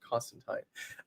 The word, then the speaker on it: Constantine: you please please uh call it say it the way it's meant to be said Constantine um and with that